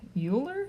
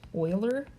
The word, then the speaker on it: Euler: when I first read this I was like Euler because that's what it looks like technically it's pronounced Euler Euler's number e because a man named Leonard